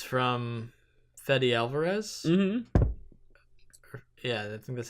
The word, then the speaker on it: Fede Alvarez: nothing in it it's disappointing because it's from fede alvarez mm-hmm yeah that's how you say his name